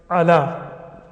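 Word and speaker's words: على: For example, the word ala, or the word Musa. Right? It's written as a ya, but it's called an alif in Arabic.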